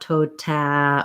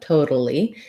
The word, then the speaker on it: totally: totally totally and then we do say the a in totally but it sounds like a schwa it sounds like an uh so there's my symbol for my flap so toad so we don't have any a-like sound not tota or tote but toda totally and then our l